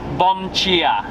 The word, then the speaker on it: dia: Bom chia. Bom chia! Bom That is chia. correct, because apparently I've been googling different things. The D-I is more like a ch sound, so we're doing alright here.